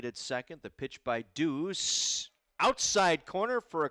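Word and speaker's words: Dhus: delivered by aj deuce spells his last name d-h-u-s pronounced deuce out of san diego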